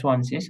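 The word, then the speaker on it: zwanzig: সোয়ানশিস। আপনি জানেন তাই বলছেন যে সোয়ানশিস, আমি যেটা বললাম যে মানে সেন সেন কেন হলো না?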